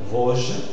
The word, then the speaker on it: Vosges: Dans ce cas, le S qui est en position implosive, c'est-à-dire en position finale de syllabe, tu ne l'articules pas et en plus, il y a une consonne qui suit. Dans ce contexte-là, le O sera fermé.